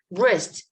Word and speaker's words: wrist: answer not this letter wrist same the first letter is silent letter listen this letter is